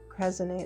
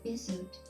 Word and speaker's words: creosote: know if you can get next to a cresonate, and I know I'm not pronouncing this correct.